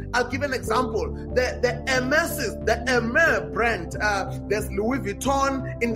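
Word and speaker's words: Hermès: There was a time in the life of Hermes where Hermes, which is spelled H-E-R-M-E, that's Hermes.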